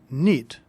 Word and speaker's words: knit: Notice that the word knit is spelled with a silent K.